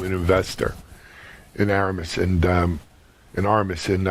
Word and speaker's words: Armis: So, Barak, I didn't mention that you are from Aramis. Or, is it pronounced Aramis or Aramis? Armis.